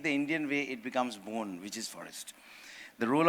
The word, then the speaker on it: Bonn: If you just keep the spelling same, but pronounce it the way we do it, it becomes Bonn, which means forest.